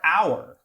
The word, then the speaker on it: hour: Same thing with the word hour. Looks like a pretty short word, 4 letters. You would think, oh, that's probably 1 syllable. But in fact, it's really 2 syllables.